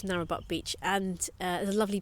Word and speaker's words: Narrabeen: We started off by, we were staying in an area called Narrabeen. Yeah, spelled with a G. Narrabeen Beach, spelled with a G. So Gnarabeen almost. I don't know what the silent G thing is.